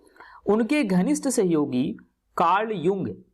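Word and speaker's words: Jung: उनके घनिष्ठ सहयोगी कार्ल युंग, है ना, यहाँ पर जंग आपको लग रहा होगा लेकिन जे साइलेंट तो युंग पढ़ेंगे, है ना, ये अमेरिकन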